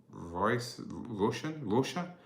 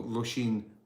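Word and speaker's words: Róisín: Callum, W25 says the correct pronunciation is Roshin or Roshin. Thank you, Callum. You are totally correct. That is right. That's totally correct. So Roshin McCormack is the correct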